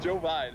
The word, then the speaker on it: Jovine: pronounced? Jovine.